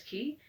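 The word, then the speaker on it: quay: went down the harbor and stood upon the key hue a why is pronounced s key so Harbor is the dock is it's like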